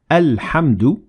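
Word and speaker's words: الحمد: in this example alhamdulillah notice how we pronounce the ham at the beginning of the word alhamdu because we started there and we said alhamdulillah but we ignored the following H because we kept on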